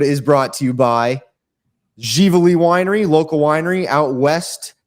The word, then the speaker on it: Ziveli: They're open Saturdays and Sundays from noon to 5, spelled Ziveli, like Zavelli. It's pronounced Givoli Winery.